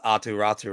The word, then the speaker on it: Aatu Räty: the other day when I did pronounce Aatu Räty right, and it's also because listening to you. But it's also like then at the NHL level, like they were calling him Roddy last year, and I'm like, tell me what it is.